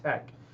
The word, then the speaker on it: TeX: a computer program called Tech t-e-x it's pronounced Tech um he created a